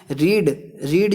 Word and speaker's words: read: जैसे कि रीड जो शब्द होता है वो उसको READ को रीड पढ़ा जाता है, लेकिन उसका जो पास्ट टेंस होता है READ उसको रेड पढ़ा जाता है।